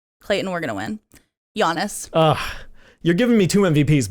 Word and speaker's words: Giannis: So you're going Jokic and Giannis. Yep. The soft J and the soft G.